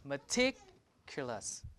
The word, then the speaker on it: meticulous: In the third one, we have meticulous, meaning to be careful. T is clear. It's clear that T is the T here is in a stress position. So this T is aspirated. Right? Aspirated. The K is in an unstressed syllable, meticulous. Right? So K is not aspirated. Unaspirated.